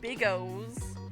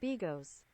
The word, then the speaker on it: bigos: that word see see reading it as an an American I I'm like I'm like OB Bigos but that's probably totally not how you pronounce it how do you pronounce